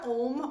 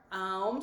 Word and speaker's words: Om: So the mantra Om or Aum, so there's like two ways to pronounce it.